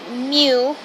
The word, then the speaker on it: Mew: Pronounced Mew.